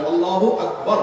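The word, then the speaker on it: الله أكبر: আল্লাহু আকবার উচ্চারণ করার সময় আকবারের রাকে টেনে পড়া ঠিক হবে কিনা? না, ঠিক হবে কেন? তাকবীরের সাথে বলতে হবে আল্লাহু আকবার, আল্লাহু আকবার, এরকম বলা যাবে না।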